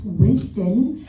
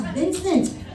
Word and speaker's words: Vincent: My whole life, I was telling him it's not Winston, he's Vincent.